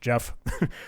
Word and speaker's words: GEF: I'm going to bring us towards using Jeff or Gef, however you want to pronounce it. However, they tell us, yo, it is pronounced Jeff. So pronounce it the correct way, like LaTeX or GIF.